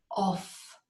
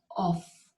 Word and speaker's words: of: I've heard it being pronounced as off, but it isn't off. Off would be O-F-F. This word is of, a V sound with your vocal cords vibrating.